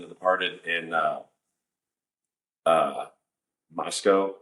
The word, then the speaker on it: Moscow: Departed in uh uh Moscow it's spelled like Moscow Idaho but it's mosco I think is how they pronounce it it was his bar